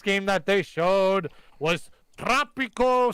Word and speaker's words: Tropico: You gotta roll your R when you say Tropico.